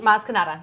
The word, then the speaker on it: Maz Kanata: Did I pronounce it correctly? Maz Kanata, yep.